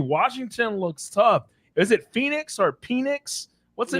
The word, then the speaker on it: Penix: Is it Phoenix or Penix? What's the name? How do you even say his name? Penix.